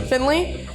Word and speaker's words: Findlay: Findlay, yeah. Findlay.